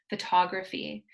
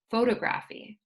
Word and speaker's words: photography: of the rules that I remembered for example photography a lot of students say photograph E but we know that for this rule it's a third to last syllable that's dressed so we want to say